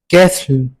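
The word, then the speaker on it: castle: कैसल कैसल में हमारे पास T silent है।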